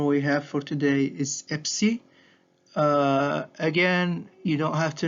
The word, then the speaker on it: Epsi: The last letter we have for today is Epsi. Again, you don't have to know its pronunciation, but it sounds like ps.